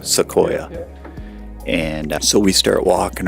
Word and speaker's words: Sequoia: are am I saying it right so yeah Sequoia Sequoia and so we start walking around and and